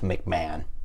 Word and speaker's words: McMahon: A quick Google in the editing room has me realizing the Stampeders Stadium is pronounced McMahon, which sounds like a meal Jeffrey Dahmer would have tried to order from McDonald's.